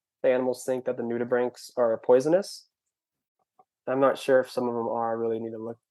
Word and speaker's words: nudibranch: butt in and i'm like yeah like this noodle branch was amazing and then after she was like it's actually pronounced new to brink and i said it